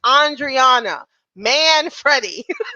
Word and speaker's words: Andriana Manfredi: Will hopefully he will hear this and realize that it is Andriana Manfredi.